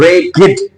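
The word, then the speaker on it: ragged: सो अ रेगिड बॉय इसने आपको इसने रेग नहीं बोलना है। ये है रेगिड। रेगिड। इसकी जो आखरी डी है उसको हम इट प्रोनाउंस करेंगे।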